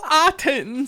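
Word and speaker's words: Ottens: his name well he was dutch and it's lou autens can you pronounce that correctly for us scotty that is lou attends thank you thank you very much thank yeah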